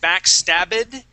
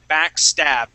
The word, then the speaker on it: backstabbed: and A D now this word ends with a B STD stepd okay all right you're still pronouncing that ID saying backstabbed we want to jump from that b sound right to the D sound and say backstabbed backstab okay back stitched